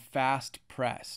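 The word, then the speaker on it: Phast Press: And then we're going to search the first one called Fast Press. Now, it's spelt with the P-H-A-S-T-P-R-E-S-S.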